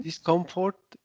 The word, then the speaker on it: discomfort: hmm Discomfort is Comfort. temporary. Remember, once again, the O is pronounced like the U.